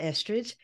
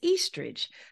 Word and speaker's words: Eastridge: and I was like that's not Estridge it's Eastridge so anyway I apologize for